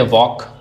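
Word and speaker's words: walk: जैसे वॉक, टॉक, half. अब इसमें एल है लेकिन साइलेंट है। पढ़ा नहीं जा रहा है।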